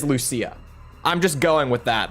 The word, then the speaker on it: Lucia: the characters in this game say Luchia and some say Lucia which is where we were confused for a while because it's like even in the game they don't seem to know how to pronounce it but we got the best confirmation we possibly could because she herself said her own name out loud and she said Lucia so I think it is Lucia I'm just going with